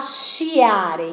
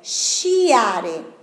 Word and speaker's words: sciare: Y acá, para tener este sonido de SHI, SHI, como ESHA, se hace con la SCI. Se yo saco la S, fica chiare. La pronunciación, no existe la palabra. La pronunciación, chiare. Pero se pongo la S, sciare.